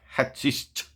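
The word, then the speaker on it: hachisch: It's like hashish. Hashish. Say it the similar way.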